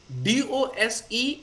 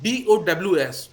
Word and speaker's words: dose: DOSE is pronounced like DOWS, dose.